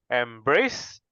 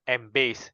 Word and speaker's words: embrace: should be resor resolution Embrace not embase is embrace you have to pronounce the r gripes not pronounced as